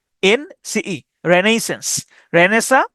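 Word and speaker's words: Renaissance: রেনেইস রেনেইস আই এস এস এ এন সিই রেনেইসেন্স রেনেসা বা হচ্ছে নবজাগরণ আর্কিওলজি এটা উচ্চারণ করতে পারেন এভাবে আরকা আরকা অথবা আরচা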